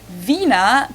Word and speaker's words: Wiener: in German we say Vina the German W is pronounced like an English V and it usually refers